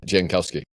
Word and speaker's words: Jankowski: I'm like, really, this Jankowski, am I pronouncing it right? Yeah, Jankowski.